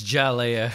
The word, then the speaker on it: Hialeah: Isn't the H silent in Spanish? It's Jalea.